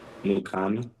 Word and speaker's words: Mukonii: Mukani.